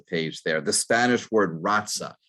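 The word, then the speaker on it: raza: just lost the page there the spanish word ratsa it's spelled r-a-z-a from which the english word race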